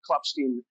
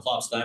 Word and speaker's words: Klopstein: Am I pronouncing your name correctly, Colonel? By the way, it is Colonel Clopstein, but that's okay. Uh I get it both ways, but uh you know that's fine.